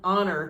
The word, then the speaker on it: honor: so it is an honor to meet you honor has a consonant at the beginning but it's silent um and it starts